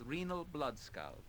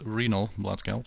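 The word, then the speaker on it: Renal Bloodscalp: a private discourse with renal blood scout yes well apparently it's renal blood count so I've been saying it wrong the whole time and chances are and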